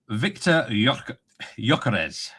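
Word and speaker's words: Viktor Gyökeres: Victor Yokarez.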